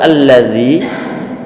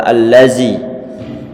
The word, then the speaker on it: الذي: ara'aital ladzi, itu lafaz alladzi, dzalnya tentunya makhrajnya ataupun tempat keluarnya adalah ujung lidah ditempel ujung gigi seri bagian atas. Alladzi, ayo. Ara'aital ladzi. Naam. Alhamdulillah tidak terdengar suara allazi. Sudah tepat.